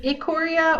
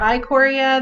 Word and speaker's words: Ikoria: that correctly Leslie yeah it's a Korea or eye Korea there's two pronunciations of it so basically they've said